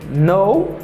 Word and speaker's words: know: And here I have no, no, paske let kara li mem li pa prononce.